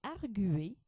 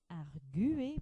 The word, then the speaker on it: arguer: bringjure aigrugure renv jure on ajoutera le tré sur le U pour le verbe arguer pour bien montrer qu'on prononce le U on mettra le tré